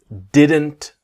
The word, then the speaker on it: didn't: What we want to learn is about the T is silent, right?